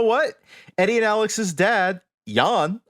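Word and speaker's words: Jan: Eddie and Alex's dad Yan I believe is how you say it he was a Dutch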